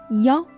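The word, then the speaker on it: 幺: So, Chinese people prefer to read 1 as yao in phone number in order to distinguish it from the pronunciation of 7, which is qi.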